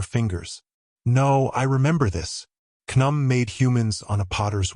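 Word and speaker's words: Khnum: That'd be pronounced knum, I suppose. Rhymes with kaboom.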